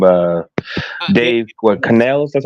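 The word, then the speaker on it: Canales: fixer um what's my man's name uh Dave canel that's how you pronounce last name but um he has such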